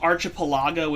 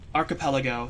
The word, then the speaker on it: archipelago: know why I just I keep wanting to pronounce it Arch which completely up my pronunciation for the rest of the word because archipelago is not right I know that much archipelago sounds better um it is you